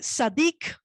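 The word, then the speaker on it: צדיק: La palabra justo en hebreo se dice sadik. Sadik se escribe con T de tetero, Z, A, D de dedo, I y K.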